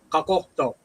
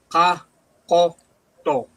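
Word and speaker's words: Qaqortoq: Kakokto. One more time. Kakokto. Kakoto. Yeah. So that T is a D sound, just so you know.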